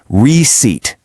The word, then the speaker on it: receipt: The P is totally silent. You say it like receipt.